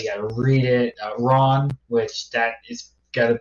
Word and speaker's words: Ran: How do you spell it? R-A-N. It's pronounced Ron.